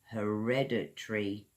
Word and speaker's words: hereditary: illness he had a Hereditary illness repeat it back after me guys, then you can perfect your pronunciation her rare dirt tree fall syllables hereditary another example eyes hair